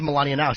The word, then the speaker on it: Melania Nelms: It is Melania Nelms. He said it right. How about really?